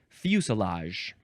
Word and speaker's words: fuselage: All right, now moving on to fusilage. It's the word fuse with the word lage, L-A-G-E, but of course we pronounce it fusilage.